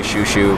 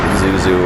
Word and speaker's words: Xiu Xiu: "We generally say 'shoe-shoe,' but people say, you know, 'zoo-zoo' or 'ju-ju' or whatever.”